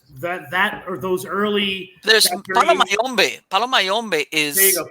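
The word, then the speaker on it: Palo Mayombe: There's Palomayombe.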